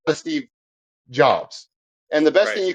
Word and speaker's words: Jobs: like the Steve um jobs Steve jobes sorry I get it because it's j obv i get the guy sometimes I say it like the Bible job Steve Jobs yeah um and then you